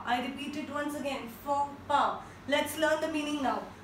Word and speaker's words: faux pas: I'm sure kafi logon ne isko pronounce kiya hoga like fox pass, but it absolutely incorrect. The right pronunciation is FOPA. I repeat it once again, FOPA.